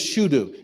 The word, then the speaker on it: Shudu: i think her well i just missed pronouncing that her name is shudu you ever heard of